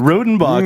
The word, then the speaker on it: Rodenbach: that's right i think i'm drinking the rodenbok is that how you say that you can call whatever you want i call it rodenbach rhodenbock is also a good pronunciation uh i don't know